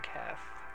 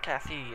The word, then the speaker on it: Cath: it say her name cath it's not Cathy it's cath we'll call